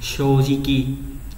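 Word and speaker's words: 正直: Thì nếu mà ghép nó đọc là C chốt cự, thế nhưng mà đặc biệt chính trực lại không đọc như vậy mà đọc là gì nhỉ? Shojiki.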